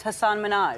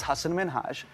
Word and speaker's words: Hasan Minhaj: Good, please, because everyone that says your name says Hasan Minhaj. Yeah, but the real way you pronounce it, and this is a big deal because my parents are here, it's Hasan Minhaj.